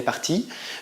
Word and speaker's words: partie: On ne prononce pas le E, on dit juste elle est partie, mais on écrit le E parce qu'il s'accorde avec le sujet.